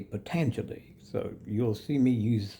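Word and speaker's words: Patanjali: I just read it phonetically, Panta Jelly, but it's actually potentially.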